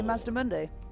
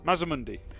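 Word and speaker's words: Mazdamundi: Could you do me a favour and say Mazda Mundi? Mazamundi.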